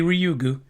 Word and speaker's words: Ryugu: samples from the asteroid rugo actually I think it's the first time I actually said it right I'd rather they just called it rayu because we're all used to that thanks to Street Fighter but no it's got to be ryugu U the capsule containing the